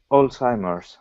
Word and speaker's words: Alzheimer's: Could you pronounce Alzheimer? Yeah, Alzheimer's. Alzheimer's.